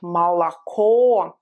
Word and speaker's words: молоко: So O, pronounced as O, when it's stressed, like in the word молоко. When it's not stressed, it sounds like or something that you just want to skip, like So молоко, O is prominent only at